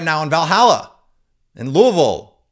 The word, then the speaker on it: Louisville: now in Valhalla in Louisville which you got to pronounce Louisville or the people in Louisville get mad if you say Louisville or really mad if you say something silly like Lewisville you wouldn't do that